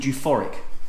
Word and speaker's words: U4iC: To come back on you, that is U4iC, but I pronounce it. It's called euphoric, right?